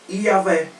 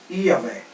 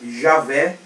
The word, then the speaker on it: Iavé: Se a gente for voltar para o hebraico, a pronúncia é Iavé. Iavé. Aí os testemunhos de Jeová, eles vão falar que é Jeová. Mas tem várias traduções aceitáveis. Javé, Iavé, né?